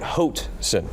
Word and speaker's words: Hoatson: It rhymes with boat. Hoatson.